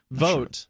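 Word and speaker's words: Voat: a Chan though at vote vote rhymes with goats vote okay again what do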